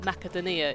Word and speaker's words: Makedonia: area that's quite high-level makedonia are probably basically Macedonia oh I thought yeah they think they pronounce it makedonia in the game so I'm gonna I'm going to go with their pronunciation so it's already an